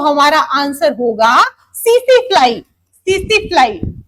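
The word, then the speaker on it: tsetse: अगर हम वेक्टर की बात करते हैं तो हमारा आंसर होगा सीसी फ्लाई। सीसी फ्लाई टी से स्पेलिंग स्टार्ट है। टी साइलेंट है। सीसी फ्लाई बोलेंगे।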